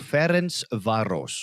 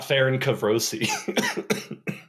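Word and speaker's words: Ferencváros: the Hungarian league is a team called fence varos fence Vos not faren kavosi not Fen kavosi but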